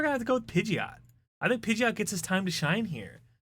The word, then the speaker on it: Pidgeot: I think we're gonna have to go with Pidgeot.